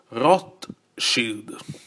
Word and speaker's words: Rothschild: Quindi la pronuncia originale, secondo l'alfabeto tedesco, dovrebbe essere questa: Rothschild. Poiché il gruppo SCH in tedesco si pronuncia come sh, in, come esempio nel verbo sciare in italiano, sciare, fruscio.